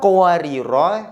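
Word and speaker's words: قَوَارِيرَا: Maka yang pertama ini apabila diwakafkan atau berhenti maka bacanya satu alif. Qawariro. Namun kalau diwakafkan maka bacanya pendek. Qawariro, qawarir. Qawariro yang kedua yang tidak ada tanda merahnya maka diwakafkan ataupun wasol ataupun sambung tetap dibaca pendek.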